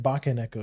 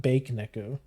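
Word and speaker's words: baka neko: You say it like you say it like baka neo. You don't say like you don't say like bake neco. And you don't say it like you don't say like you don't say it like baka and echo either.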